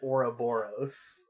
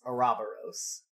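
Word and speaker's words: ouroboros: people do pronounce it oroboros yeah I pronounced it Ora boros for a long time until I was corrected yeah it depends on how Greek you want to be if you want to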